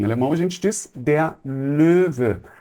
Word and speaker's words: Löwe: Em alemão a gente diz der Löwe. Para pronunciar esse O com trema, eu faço a boca do O e reproduzo o som do E. Então fica assim, E. Portanto, Löwe, que seria o leão.